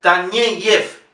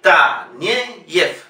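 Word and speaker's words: Taneyev: Sin embargo, ye se pronuncia siempre ye. Sergei Tanyeyev. Ye, ye. Tanyeyev. Tanyeyev. Una palabra llana.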